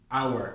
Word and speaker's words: hour: Hour. Are you saying hour? H-O-U-R. Are you able to identify that there's a silent letter and it's a vowel sound even though it starts with a consonant?